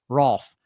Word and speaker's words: Rolfe: We have Brother Tony Rolfe. That's right. He gave me a heads up. He said, pronounce it like golf.